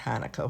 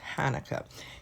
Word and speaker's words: Hanukkah: It can be spelled different ways, but it's always pronounced Hanukkah.